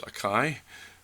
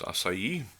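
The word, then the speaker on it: açaí: which people still pronounce quinoa acai some people pronounce akai but it's acai those those are two ones a grain quinoa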